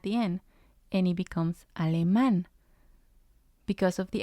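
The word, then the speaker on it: alemán: the a at the end and it becomes Al man because of the accent we know we have to stress the last syllable and the last example here is Eng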